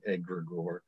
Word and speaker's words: egregore: Well, and for the purists out there, we are mispronouncing the word. It is one of those potato situations, but since it is Greek, everyone gets an excuse at pronouncing it poorly. And so we're just going to go with the Anglified, the Americanized pronunciation, egregore.